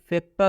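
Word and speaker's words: factor: लिखा जाता है फैक्टर, लेकिन जब इसका उच्चारण होता है तो इसका उच्चारण फैक्टर से करेंगे। मतलब ये कि ओ आर का उच्चारण अ से हो जाएगा। ओ आर का उच्चारण क्या चीज़ से होगा, अ से होगा।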